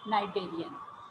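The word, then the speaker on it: cnidarian: starts with C but C is silent over here so we pronounce it as narian Hydra is a narian is a simple multicellular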